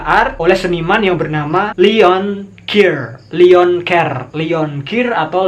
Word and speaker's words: Leon Keer: Guerrilla art oleh seniman yang bernama Leon Keir atau Leon Keir. Leon Keer.